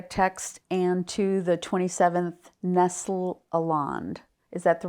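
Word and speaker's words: Nestle-Aland: to the mastic text and to the 27th Nestle aland is that the right way to say that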